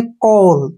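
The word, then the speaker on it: coal: छोटे ओ से जैसे सीओ ए एल इसको हम पढ़ेंगे कोल तो यहां पर ओ ए का उच्चारण ओ के रूप में होता है जैसे यहां पर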